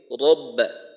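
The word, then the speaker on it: رَبَّ: তারপর রব্বা, রটাকে মোটা করে উচ্চারণ করা যেন রটা পাতলা হয়ে না যায়। আর একটা বিষয় হলো র মোটা করার সময় যেন ঠোঁট গোল হয়ে না যায়, ঠোঁট খোলা রেখে রব্বা ফালইয়াবুদু রব্বা হাযাল বাইত।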